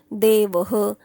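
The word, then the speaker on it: देवः: कसा प्रोनन्सिएशन केला जातो आता हा अकारांत आहे म्हणून त्या ह च प्रोनन्सिएशन विसर्गाचा विसर्गाला प्रोनन्सिएशन ह असतो पण त्याला पण अंत ओळखता आला पाहिजे म्हणजे अकारांत आहे म्हणून ह म्हणणार देवह मालाहा आता आकारांत आहे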